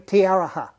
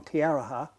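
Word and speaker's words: Te Aroha: In a little town, or in Tiaraha. Could you spell it?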